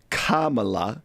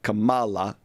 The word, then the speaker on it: Kamala: night because kamla and I was corrected on how I was pronouncing her name Kamala not Kamala has chosen Governor Tim